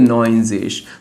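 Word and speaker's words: neunzig: उंदन नोइंजेश।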